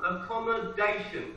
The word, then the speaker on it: accommodation: First one, accommodation, accommodation. The stress is on the fourth syllable.